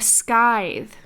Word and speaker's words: scythe: A scythe. A scythe? Is that how you pronounce that?